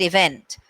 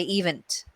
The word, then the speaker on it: event: own like the word event a lot of indians will say event um because they're pronouncing the stressing on the wrong syllable and then a native